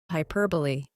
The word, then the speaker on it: hyperbole: This word is pronounced as hyperbole.